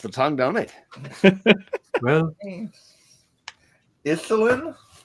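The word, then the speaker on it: Yselm: name lass oh of course my name is isim bloody just rolls off the tongue don't it well isin y s e l m not spell that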